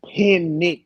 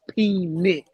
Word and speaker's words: Penix: His name is Penix. Penix. You're pronouncing it like the word penis, and it's pronounced Penix.